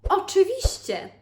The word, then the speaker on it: oczywiście: So it's a little bit hard. We have the double letter ch, okay? Ch, but it's not hard because we know that ch is pronounced the same way as ch, the sound chocolate. Ch, chocolate is the same sound. So ch, oczy, ście, ście. Shi is the special letter, and then we have another double letter, ci.